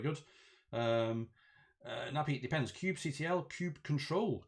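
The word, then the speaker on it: kubectl: that's that's very good um uh nappy depends cube ctl cube control cube control nappy that's a bit cute control that's a good way to pronounce it um now pete uh is the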